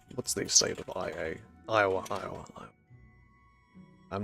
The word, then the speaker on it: Iowa: Iowa.